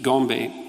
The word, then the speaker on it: Gombe: But then, of course, Goodall showed in the 1970s that the chimps at Gombe, I think I'm pronouncing that correctly, yep, would go on raiding parties, right?